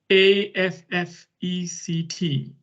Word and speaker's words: affect: talk about is affect a f f e c t um it's written like effect um but pronounced slightly differently as affect what is affect is